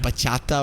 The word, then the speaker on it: bachata: But it's spelled B-A-C-H-A-T-A, and it is bachata.